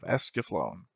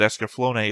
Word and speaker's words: Escaflowne: I'm Theta and we're here with another episode of Visions of Esaflone. Sorry, Esaflon. Esaflone was what I was saying in the first few episodes before I actually realized that Esafone is how it's pronounced.